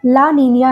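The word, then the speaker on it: La Niña: लिखने में तो ये एल नीनो और ला नीना ही लिखा जाता है, बट इसका प्रोनाउंसिएशन एल नीनियो और ला नीनिया है।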